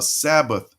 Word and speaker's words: Sabbath: in the Old Testament they use the term Sabbath which is actually pronounced Sabbat uh Hebrews chapter 4